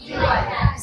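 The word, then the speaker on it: psychology: সাইকোলজি সাইকোলজি এখানে পি টা silent থাকবে ফি টা সাইলেন্ট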